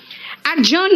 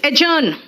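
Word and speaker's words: adjourn: रंग इट is adjective एडजर्न नहीं है इट्स एजन एडजर्न नहीं है इट्स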